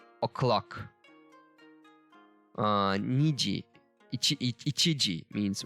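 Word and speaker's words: 二時: I'm not sure of it because the numbers have different readings, pronunciations when we are using them with other stuff. So it might change, but most probably it's Niji.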